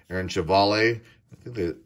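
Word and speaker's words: Civale: say his name aaron cevalle i think that i say chavali but people say sivali um our steadies aquino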